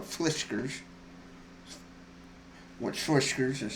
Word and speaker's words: Fiskars: And the Meijer store that we have, which is like a Michigan-based company, but this is a whiskers, like cat's whiskers, but fliskers.